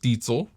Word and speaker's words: Diezel: year before I got my first diesel yes I'm pronouncing that correctly per my German heritage that uh I got